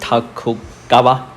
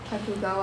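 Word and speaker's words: Tokugawa: I'm gonna need help with these names because I forgot how to pronounce them. Mm-hmm. While Yesu and Ayasu Ayasu and how do you say that? Takugawa. Takugawa That's the first name and the last name.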